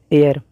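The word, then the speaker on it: heir: तो दोस्तों चूंकि हमारा जो वर्ड है एयर, भले अंग्रेजी में एच से शुरू है लेकिन इसका उच्चारण जो है वो स्वर से है ए, इसलिए दोस्तों हमारा इसके पहले लगाना होगा एन, एन एयर टू my throne.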